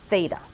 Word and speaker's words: theta: a little line through the middle and you pronounce it Theta it's traditional in mathematics that Greek letters are